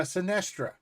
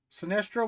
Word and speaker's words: Synastria: Yes, this is uh Sinestra. Sinestra. Wow. Um it's spelled just like it is in my thing.